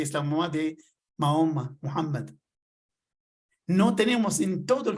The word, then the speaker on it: Muhammad: ¿Saben que Moisés se menciona en el Corán muchas veces más que Mahoma o Muhammad, como nosotros preferimos pronunciarlo?